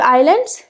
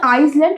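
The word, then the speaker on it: island: Next we have आइलैंड्स। ठीक है? इट इज़ नॉट आइसलैंड rather the pronounce आइलैंड।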